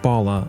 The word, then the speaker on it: Bhalla: any further Ado here's my interview with Bala on the ear coffee podcast today I am